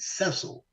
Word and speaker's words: Sesil: Cecil around and put S's and made it cesil which is the correct pronunciation of the name yeah so we became